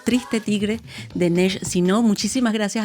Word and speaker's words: Triste tigre: Le agradecemos muchísimo haber estado con nosotros para este libro, que además se pronuncia en francés y en español igual, Triste Tigre, de Nesh Sino.